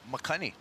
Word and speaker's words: makani: Makani.